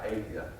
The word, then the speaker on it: Adia: Some of us had a discussion on just how you pronounce I would say Adia. And I spelled that name phonetically to help you with that.